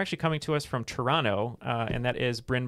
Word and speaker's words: Toronto: surprised that you uh didn't say the second t in toronto yeah you pronounced it